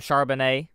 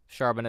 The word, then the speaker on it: Charbonnet: Charbonnet. Charbonnet.